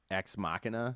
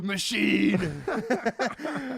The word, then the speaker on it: Ex Machina: you seen ex machina ex machina yeah yeah I pronounced it wrong when I first watched it I was like machine it's like way more manly though it is a lot more manly but it's incorrect yeah